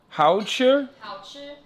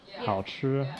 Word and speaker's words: 好吃: Hao chi? Hao chi? 好吃. If very delicious, you say 好好吃. Oh, dude. Oh. Yeah. 好好吃 means very delicious. Mm. Yeah. Hao chi?